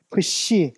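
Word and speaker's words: ψ: 푸시. 그러니까 요것도 이제 피읍과 시옷이 두 발음이 다 이렇게 한 번에 이렇게 뭔가 푸시케 할 때 이제 요런 식으로 나온다는 거죠.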